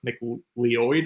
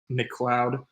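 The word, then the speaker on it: McLeod: It looks like his name is pronounced like M Leoid or something like that, but it is pronounced Mloud.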